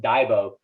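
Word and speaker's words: dagbog: these diaries uh it's spelled v-a-g-b-o-g but it's pronounced daibo and these divots were these daily diaries where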